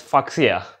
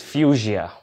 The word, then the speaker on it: Fuchsia: this word out and in my mind I was reading it as fucsia and I was definitely sure that that's not the exact pronunciation so I meant to be keep it in it and I found out the exact pronunciation and it was fuchsia so before I start